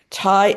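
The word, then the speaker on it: Tighe: In in the present, also present, uh you name uh Liz Clark from Tai and Bond. Ty is spelled T I G H E.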